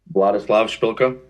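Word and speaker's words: Vladyslav: Vladislavila. Can you spell that for me, please?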